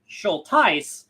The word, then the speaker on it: Schultheiss: It's pronounced schol and you see the th is like th No.